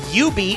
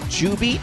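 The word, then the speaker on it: jubeat: other bowani games uh you beat which a lot of people mispronounce chewbeat because it has a j but the j is actually silent it's ubi uh you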